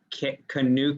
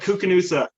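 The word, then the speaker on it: Koocanusa: you went out to some place called like kick canoe cos yeah how do you say it cuca noosa KU Knudsen it's where it's called cuca noosa which is short for Kootenai candidate you would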